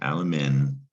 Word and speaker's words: alumen: And alumen in Latin, that's a long U, by the way, alumen.